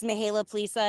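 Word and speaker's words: Mihaela Plesa: pronunciation? Yes, you did very well. Thank you. Good morning, everybody. My name is Mihaela Plisa, and I proudly serve as the Vice Chair of the House Democratic Caucus.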